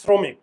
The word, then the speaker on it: শ্রমিক: আরো কারণ আছে ওই যে চোয়াল আমরা তো উচ্চারণ করি শ্রমিক শ্রো শ্রো চোয়াল খুলে না চোয়াল না খুললে